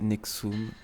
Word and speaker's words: NXIVM: soirées de culte sexuel nxi VM communément prononcé nexum qui est une secte